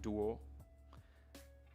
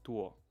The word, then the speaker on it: 多: in Mandarin in Pinyin is not pronounced like a D in English, like duo. It's actually like a T, but unaspirated, so it's like duo.